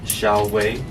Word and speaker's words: Xiaowei: canceled for no reason how do you pronounce it so uh my real name is xiaowei but well just call me it's not